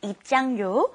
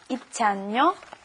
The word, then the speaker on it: 입장료: It's kind of hard to pronounce because your tongue's kind of moving around in your mouth. It's 입장료 and then 대여료. 입장료, 대여료.